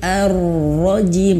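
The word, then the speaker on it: الرجيم: Nah huruf jim ini juga ada dua pendapat ya teman-teman. Saya sudah bahas sebelumnya di video sebelumnya tentang huruf jim, yaitu pendapat pertama ajim, jim itu dibacanya seperti huruf ya, karena makhrajnya sama seperti huruf ya, tidak begitu jelas, j-nya tidak begitu jelas. Ar-rajim, tapi ar-rajim.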